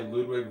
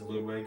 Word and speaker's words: Ludwig: said Ludwig for whenever I say Ludwig's name. Both because uh Disney characters say Ludwig von Drake and because uh the Smash announcer says Ludwig. That and I think the name I think the pronunciation Ludwig sounds more formal for for a Koopa like him.